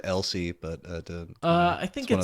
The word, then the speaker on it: Else: get to meet else oh I always said Elsi but I think you know those again yeah I just the way it's pronounced the audiobook else else okay we'll stick with that I would